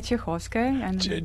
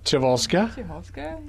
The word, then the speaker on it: Chekhovskaya: Pronounce the last name. Well, that would be Chekhovskaya. Chevolska?